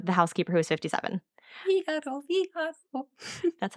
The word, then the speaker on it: Figueroa: Figaro. That's how I knew how to pronounce her name.